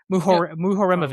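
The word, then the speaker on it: Muharemović: Mu Muhoreovich.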